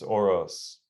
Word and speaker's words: Orosz: think beyond um dude how do you say your last name by the way it's oros yeah so who is